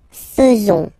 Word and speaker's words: faisons: Then, nous, so it's quite strange because French people tend to pronounce faisons, okay? So like here, this A-I is not pronounced like, normally we should pronounce it like E, but then like E, okay? Nous faisons, okay?